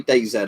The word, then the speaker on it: DayZ: massive fan i'll say dayz i know most people call it dayz because americans say z z but we say uh z zed here right so day zed or day z i've never been massive